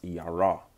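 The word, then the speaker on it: ירא: You got a yah, a ra, and a r at the end, and it's pronounced yara, which means fearful or to be afraid.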